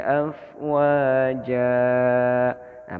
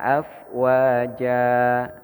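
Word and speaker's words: أفواجا: Wara'aitan nasa yadkhuluna fi dinillahi afwaja. Nah, bacanya afwaja, jangan afwajan.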